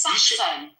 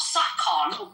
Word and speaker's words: Saxon: First of all, it's Saxon. It's Saxon, not Sakon. This is pronounce English properly.